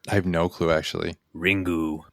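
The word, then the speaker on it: リング: Ringu. But you have to say it like that.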